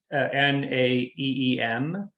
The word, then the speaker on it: Naeem: And it's a song, I think the pronunciation would be Naeem, but it's Naeem.